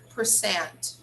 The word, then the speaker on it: percent: and the last one percent percent the stress is on the second syllable okay guys ten percent